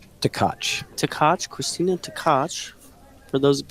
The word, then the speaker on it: Tkach: Tkach. Tkach.